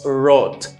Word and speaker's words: throat: C'est même voice test th là que m'te gagné dans même tooth là, tooth et puis me gagné dans throat. Plus throat.